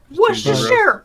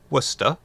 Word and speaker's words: Worcestershire: Worcestershire, Worcestershire. Go Worcestershire! How does he know how to say that name so clearly? He doesn't! or Chestershire, I don't know. Worcestershire.